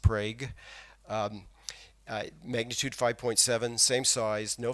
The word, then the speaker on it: Prague: The 2011 Prague, Oklahoma earthquake, it really is pronounced Prague.